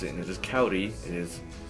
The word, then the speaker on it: Kauri: to pronounce it as kau D his phonetically spelled kou REE with a an R like a soft D in Spanish as a cavity and